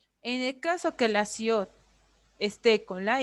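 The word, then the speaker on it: 시옷: La siot hace referencia a una S, a una sh y a una T, cuando está abajo, en pachín. S al principio, al medio como una sh y al final como una T.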